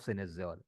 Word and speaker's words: cynosure: This is pronounced as cynosure. But this is the way it is written is cynosure, cynosure. But it is pronounced as synesure.